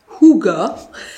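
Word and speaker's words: hygge: dis le livre du hig mais ça se prononce Kuga ce qui est intéressant avec ce bouquin c'est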